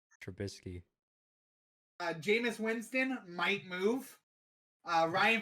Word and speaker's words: Trubisky: That's not how that name's pronounced. Trubisky.